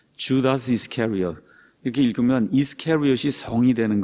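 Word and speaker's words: Judas Iscariot: 영어로는 반대로 읽습니다. 주다스 이스카리엇 이렇게 읽어요. 주다스 이스카리엇.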